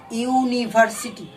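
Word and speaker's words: university: কারণ কি? নিয়মটা বা রুলসটা হলো যে ইউ যখন উচ্চারিত হবে, এইচ এর ক্ষেত্রে ছিল এইচটা উচ্চারিত হবে না, কিন্তু যখন ইউ এর ক্ষেত্রে ইউটা উচ্চারিত হবে, ইউ, যখন আমব্রেলা কিন্তু ইউ দিয়ে শুরু হচ্ছে না, আমব্রেলা আম, কিন্তু ইউনিভার্সিটির ইউ দিয়ে শুরু হচ্ছে, তখন তার পূর্বে এন না বসে এ ব্যবহৃত হবে। আর পরবর্তী যেটা রয়েছে ও,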